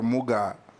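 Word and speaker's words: Mugaa: How do you pronounce the last name? Muga or Muga?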